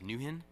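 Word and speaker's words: NwHIN: the nwh I am also referred to as Newton there was nothing necessarily new about it it was just the way we choose to pronounce it that had prototypes and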